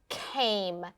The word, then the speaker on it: came: rasheed i'm noticing that the snap word came has a silent e at the end the e doesn't make a sound but it makes the a make the long vowel sound next we spell it